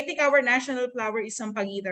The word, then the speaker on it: sampaguita: Okay, sampaguita is the Philippine the national flower. 다 같이 한번 해보자. sampaguita. Okay, the pronunciation is right.